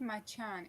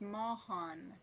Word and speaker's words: Mahan: It's not Machan, it's Mahan. Mahan. Mohan. Mahan.